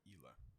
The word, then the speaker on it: Gila: Is it Hila or Gila? It's Gila, but it's pronounced more Hila.